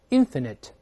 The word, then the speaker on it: infinite: 这个时候注意发音变了，大声了没？Infinite, infinite, 有限的叫 finite, 无限的叫 infinite 就好了。